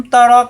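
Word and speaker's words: تَرَ: আলাম তারা কাইফা ফাআলা রাব্বুকা বিআসহাবিল ফিল। আলাম, আলাম দ্রুত উচ্চারণ হবে। আলাম অর্থ নাই কি, নাই কি। তার আপনি দেখেন, তার রা হবে না, তার।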